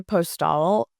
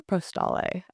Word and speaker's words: Postale: Cafe Postal or Postale? I never know. I always say postal Okay, because we're gonna say if it's French, then you mm, always pronounce the consonant if it's followed by a vowel.